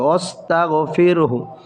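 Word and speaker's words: وَاسْتَغْفِرْهُ: ছিল অক হয়েছে থেমেছি এজন্য হাটাও সাকিন করে পড়তে সতাফিরহু এভাবে উচ্চারণ হবে ওস্তাগফিরহু ইন্নাহু হরকতের পরে নুনে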